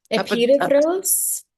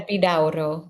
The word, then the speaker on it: Epidaurus: Um and there's two ways to pronounce that, correct, Molly? Epidaurus? Mhm. Epidaurus, yeah. Epidaurus. Okay. Depends on which language you are speaker.